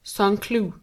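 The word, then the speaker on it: Saint-Cloud: village just outside of Sanu pronounced sanlu it is given up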